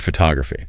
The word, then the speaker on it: photography: Her main problem was syllable stress. Ah. Syllable stress. That is so tricky in English. It really is. For example, the word photography. Right. A native speaker says pho-to-gra-phy.